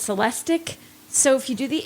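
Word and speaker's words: Celestiq: already said it's lyric you've already said it's celestic so if you do the ick is how you pronounce that ending it's going to be the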